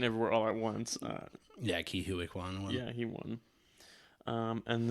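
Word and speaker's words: Ke Huy Quan: Ke-Huy Quan? Yeah, okay, I was going to pronounce it correct then.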